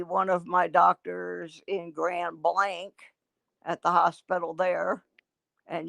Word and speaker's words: Grand Blanc: of my doctors in grand blank at the hospital there and yes i pronounced it correctly you can tell you can tell somebody's not from michigan if they call it grand blanc they're not from me